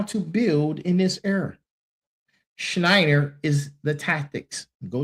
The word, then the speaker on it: Schneier: The book is called Schneier on security.